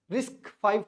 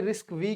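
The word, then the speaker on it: RISC-V: है रिस्क फाइव technology नाम से आपको लग रहा होगा कि रिस्क वी क्यों नहीं बोल रहा तो इसको जिन्होंने टेक्नोलॉजी दी है उन्होंने यही प्रोनाउंस किया और लास्ट में ये वी नहीं है ये फाइव है रोमन नंबर वाला फाइव है रिस्क फाइव टेक्नोलॉजी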